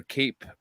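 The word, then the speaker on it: Kape: We've got Manal Cop or Cape Cop. It looks like Cape, it's pronounced Cap, versus Felipe dos Santos.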